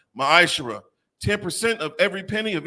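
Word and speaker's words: מעשר: It's pronounced ma'ashera.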